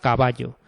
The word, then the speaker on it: caballo: El acento o la fuerza recae en la penúltima sílaba, que es la tónica, por ejemplo, la palabra caballo. Caballo. Entonces, ba es la sílaba tónica, ¿de acuerdo?